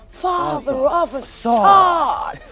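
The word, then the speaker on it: Father of Asahd: The three are featured on Khalid's album Father Facade. No, you have to say it like him. Father of a sword.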